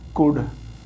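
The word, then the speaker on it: could: मैं चल सकता था, आई कुड कहते हैं इसे, एल नहीं बोलते, एल साइलेंट है।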